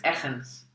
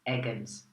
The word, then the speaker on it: Eggens: is my name, obviously, but my surname is Eggens, which is the Dutch way to pronounce it. Now, if you pronounce it in English, it's Eggens, which is too, we've just had Easter.